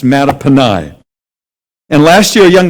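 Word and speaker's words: Mattaponi: m-a-t-t-a-p-o-n-i is in elementary school looks like it's matapony sounds like a pet you want to keep it's actually a native american name it is pronounced matapanai and last year a young lady came up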